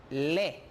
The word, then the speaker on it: lait: Par exemple, on a ici AI, ça se prononce comme E en français. Alors, por lo tanto, yo prononcio le lait, la leche, frais, fresco.